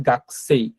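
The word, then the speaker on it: 学生: নেই তো জাস্ট হচ্ছে মনে রাখবেন যে গাকুসই লেখা বাট হচ্ছে এটার উচ্চারণ হবে গাছে অর্থাৎ উটা সাইলেন্ট থাকে এইযে এখানে যে উটা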